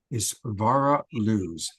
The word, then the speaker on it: Isvara Luz: It's spelled ISVARALUZ. It's Vara Luz.